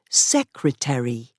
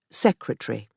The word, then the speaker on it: secretary: Webster also influenced American pronunciation by saying that each part of a word must be clearly pronounced. For example, secretary, not secretary.